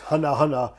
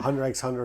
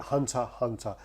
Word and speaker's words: Hunter x Hunter: This is a Hunter x Hunter written on paper, but it's actually pronounced Hunter Hunter. I got butchered by saying... Yeah, Yoshimitsu came after him. I said Hunter x Hunter a few times, and